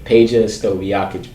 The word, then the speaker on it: Peja Stojakovic: Peja Stojakovic.